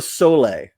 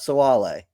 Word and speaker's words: Sole: Wasilla Dua Sole, not Soale. Wasilla Dua Sole. Yeah. Oh, Sole, like the mascot Sole? Literally Sole, like our mascot.